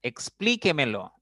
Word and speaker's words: explíquemelo: explíquemelo no otra palabra explíquemelo es una palabra que tiene cinco sílabas la mayor fuerza la mayor intensidad está en la cuarta sílaba por lo tanto es